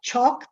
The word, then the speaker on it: chalk: Anyway, A followed by L often becomes pronounced as an O. And sometimes some letters are not pronounced at all. In talk, the L doesn't exist in the pronunciation.